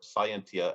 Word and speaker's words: scientia: He defined not science, but scientia, or scientia, as some people will pronounce it, as the act of him that knoweth, the act of him that knoweth.